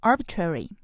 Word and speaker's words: arbitrary: 这句里边有一个词 arbitrary, 它有任意的、武断的意思。那不是个任意的数字就可以说 That's not an arbitrary number.